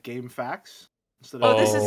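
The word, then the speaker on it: GameFAQs: It is literally game FAQs. Sburb And beta now if- walkthrough. Okay, I've always pronounced this like as if like game facts instead Oh, of this is the me.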